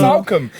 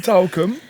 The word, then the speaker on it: Salcombe: Salcombe. You're from I'm from Talcum. Devon. Oh my God, you've drunk too much. Yeah, you're from Talcum. Is that how you say it? No, Salcombe. Salcombe.